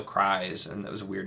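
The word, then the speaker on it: Crys: physical one one the they pronounced the character cries I would have thought it was Chris or something or Chris or something but no cries and that was a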